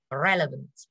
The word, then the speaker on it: relevant: Mình đọc là relevant. Relevant, âm e.